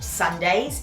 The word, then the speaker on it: SNDYS: And I was looking at tops and I found a top by the label Sundays. It's spelled SNDYS, and I loved it.